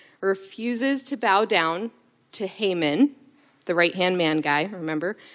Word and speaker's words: Haman: man, I meant to ask Justin how to pronounce his name. Haman? Haman?